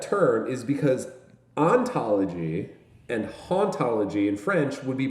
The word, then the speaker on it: hauntology: that way uh because we do pronounce the h where the french wouldn't and and and so